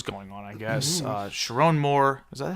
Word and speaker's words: Sherrone: Uh Chiron Moore, is that how you pronounce Chiron?